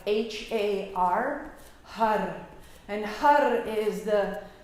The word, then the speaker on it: har: And with that, we make a har, H-A-R, har.